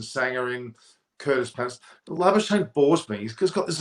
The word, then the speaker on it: Labuschagne: And even Steve Smith and Labuschagne, to give the correct South African pronunciation.